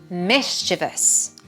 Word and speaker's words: mischievous: Mischievous. Mischievous. So many people get this one wrong. It is not four syllables.